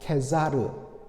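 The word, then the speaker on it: Caesar: 여러분, 가이사, 여러분들 이 가이사는 헬라어로 카이사르입니다. 이것을 라틴어로 바로 케자르 이렇게 불렀습니다.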